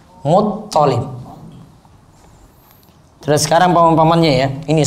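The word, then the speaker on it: المطلب: Toknya yang tasdid, lamnya enggak tasdid. Muttalib.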